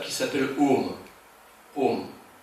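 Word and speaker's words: ॐ: Om. Et le monosyllabe Om que l'on transcrit par OM est en réalité une contraction de A-U-M. Aum.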